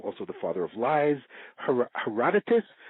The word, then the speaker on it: Herodotus: We call him also the father of lies, Herodotus. My Hakim always pronounced it Herodotos, and called him a journalist, not a scientist, not a researcher, a journalist.